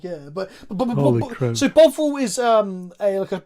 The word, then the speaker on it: Bovril: Shivum, it's pronounced Bovril.